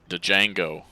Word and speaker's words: Django: From right to left, Animaniacs, we have Burkett's 9 playing Falstad, Django, D is Silent Hillbilly, on the Varian,